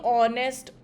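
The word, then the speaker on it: honest: अ for example he इज़ दी ऑनेस्ट auditor everyone respects.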